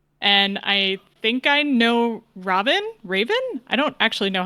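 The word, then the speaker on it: Ravn: Logan did say it is pronounced Raven, like the bird.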